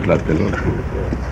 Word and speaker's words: Tlatelolco: That's where the foreign office is in Tlatelolco.